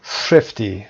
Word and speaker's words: thrifty: I've always been thrifty. Thrifty رو ببینیم. Thrifty تلفظ. صدای اول کوتاه، ای دوم کشیده هست.